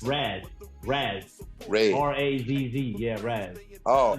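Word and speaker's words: Razz: His name is Rez. Raz.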